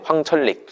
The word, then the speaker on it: 황철릭: 네, 황철릭. 황천릭. 그러니까 황천익인데 이게 황철릭이 돼요, 발음상.